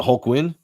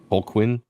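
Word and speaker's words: Holguin: it is it it is it a q because I think it's hul Quin isn't it is it hul Quinn yes h o g or h o lgu i nwin hwin is it Gwinn or Quinn like a q it's a small q hul Quinn okay pronunciation hour with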